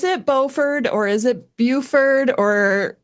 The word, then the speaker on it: Beaufort: Bowford or is it Buford or how do you pronounce it? Good question. I would say Margaret Buffett. Okay. But I mean it is kind of pretending to be a bit French.